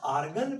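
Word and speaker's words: Argand: लोग बोल सकते हैं आर्गन प्लेन। ठीक है, डी साइलेंट है, आर्गन प्लेन।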